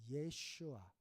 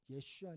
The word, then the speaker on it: 예슈아: 나의 대답은 뭐냐면 내가 예슈아 어 예 예슈아 예슈아 예수님의 히브리식 그러니까 그 당시 아람어 발음입니다 우리는 예수 하고 영어로는